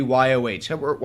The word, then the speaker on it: Yoh: the M-VI-Yoh, or the YOH, however you want to pronounce it. I've been told it goes as Yo, but, yeah, it sounds kind of weird, especially for an American design.